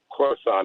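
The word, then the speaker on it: Khorasan: was carried out by a group called isis coruscant that's with a k krosan is how they pronounce it and the isis k organization is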